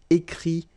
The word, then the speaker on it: écrit: Okay, remember, you put this T, you don't pronounce it. Écrit, dit, all right?